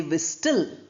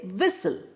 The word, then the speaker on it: whistle: Similarly, whistle. We don't say wistl. We say whistle.